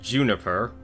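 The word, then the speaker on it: JNPR: There's Team RWBY, which is Ruby, Weiss, Blake, Yang, and then you have Team Juniper, as that's how you pronounce it apparently, with Jean, Nora, Pyrrha, and Ren.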